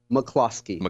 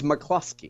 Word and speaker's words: McCloskey: It is Mark McCloskey. There is no U in McCloskey. Okay. It's McCloskey. McCloskey.